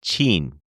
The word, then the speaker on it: Chin: But they said that if you say it in Toisanese, it's pronounced Chin, Chin.